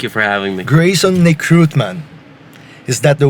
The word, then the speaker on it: Nekrutman: Greyson Nekrutman. Is that the right way to say your last name? That is correct. Nekrutman.